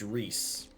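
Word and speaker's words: Rhys: a real name and it's pronounced reese i mean aren't they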